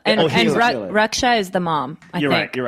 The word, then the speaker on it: Akela: no, it's Akila. And Akila.